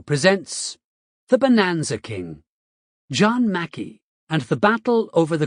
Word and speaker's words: Mackay: John McCay, pronounced Mackey, and his partner Jack